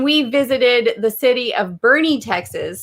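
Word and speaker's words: Boerne: visited the city of bernie texas spelled b-o-e-r-n-e we thought it'd be like born born yeah borney no it's bernie and that's actually how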